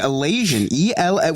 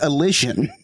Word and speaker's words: Elysian: Because you would think it was ELASION. I'm like, okay, nothing comes up. Then I look in the chat and Remy puts this word in chat that's spelled ELYSIAN, which is Elysian. Nothing to do with Asians.